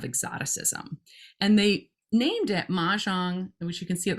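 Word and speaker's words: Mahjongg: And they named it Mahjong, which you can see at the top, with the double G to emphasize its difference, right? The double G doesn't do anything in terms of how it's pronounced.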